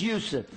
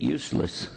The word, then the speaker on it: Yusuf: My name's Yusuf. Can you say Yusuf? You got it right on the first time. All these years, my wife still pronounces it useless.